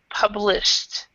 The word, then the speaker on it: published: and you said published so remember with the Ed endings um it really depends on the on on the word before it so if you have a t uh t or a d and then a k uh a TR D it's it's an that you have the Eed D sound okay but with this one it's a t sound published okay and then also